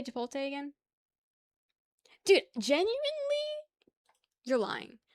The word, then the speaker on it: Chipotle: How do you say Chipotle again?